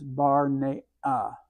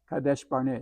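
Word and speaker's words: קדש ברנע: And here's the bet. Notice up here we had a vet. With the dot, it becomes a bet. Full note A, this syllable ends because this shval tells you this is the end of the syllable into the rounded resh. So this is bar. Next syllable is noon. Full note E, A into hard A into from the ain. So it's bar ne a. Kadesh Barnea. This is where they sent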